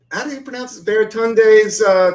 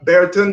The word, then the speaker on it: Baratunde: friend of mine but I'm pronouncing his name wrong right now baritone day is that a baratunde a Thurston yeah he